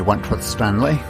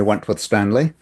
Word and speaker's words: Wentworth-Stanley: This is Wentworth-Stanley. I'm the fellow who has a hyphen in my name. The hyphen is silent, but I am anything but that. My name is Wentworth-Stanley, and I am the